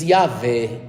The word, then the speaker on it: Yahvé: 4 letras, que se diz Yahvé.